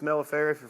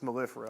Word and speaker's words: mellifera: want to pronounce it if you're from the West it's military for from the east it's mellifera okay so whatsoever but anyways